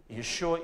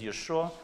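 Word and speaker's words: ישוע: They say not Yeshua, but Yeshu. But Yeshu is not the name. It is curse.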